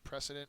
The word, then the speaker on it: precedent: is model next one precedent uh precedent for your grades be like an A+ I have that picture um it's a noun first syllable is accented it's an example that